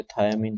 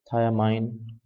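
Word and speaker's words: thiamine: थायामीन के नाम से। थायामीन। थायमाइन या थायमिन जो भी आप प्रोनाउंस करना चाहो।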